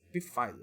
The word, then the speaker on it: Pfizer: Pfizer, mas se eu for falar em inglês, não esqueça de que o P nesse caso é mudo, né? Então a gente fala Pfizer.